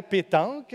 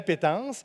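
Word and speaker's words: appétence: ah la pétence bon premièrement ce n'est pas la pétanque ce n'est pas en deux mots mais bien la pétence et ça s'écrit a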